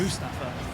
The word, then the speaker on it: Mustafa: A good block by Mustafa, whose name has been pronounced wrong by every single commentator so far. Yes. It's Mustafa. Mustafa.